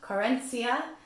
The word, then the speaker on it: querencia: It is a Spanish word, and it's pronounced querencia, and it means the